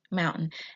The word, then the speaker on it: mountain: But when you're speaking, Americans speak so fast, they usually don't pronounce the T. It's just, I guess it's easier when you're speaking, it flows better. So mountain.